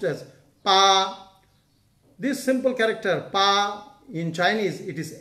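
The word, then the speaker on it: 八: This is pronounced as...Pa, this simple character, pa, in Chinese, it is 8, pa, Bangla art.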